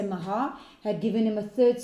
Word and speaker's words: Maachah: They say it's the C is silent. So if you want to say Makar, but let's say Mahah, had given him a third son, and this son...